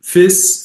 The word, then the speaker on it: Fis: difference of F and Fis. Fis is the F sharp, so it's like one syllable, it's practical to just